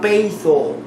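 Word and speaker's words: πείθω: Esta palabra obedecer en el griego es la palabra peitho. Se escribe P-E-I-T-H-O.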